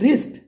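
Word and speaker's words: wrist: circle करना है fourth रिस्ट तो इसमें डब्लू साइलेंट है रिस्ट में डब्लू की साउंड नहीं आती फिफ्थ देखिए हाफ तो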